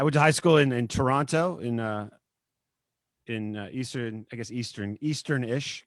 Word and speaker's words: Toronto: If I was in Canada, I'd say Toronto. As a local, you don't pronounce that second T.